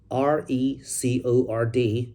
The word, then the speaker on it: record: For example, as a noun, r e c o r d would be pronounced as record. Record. The stress is in the first syllable.